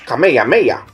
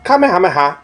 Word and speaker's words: Kamehameha: gin saying this word wrong it is not kameha that is wrong it is pronounced Kamehameha and nothing else be sure to use this